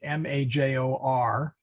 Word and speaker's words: major: Major, M-A-J-O-R, in Latin is major.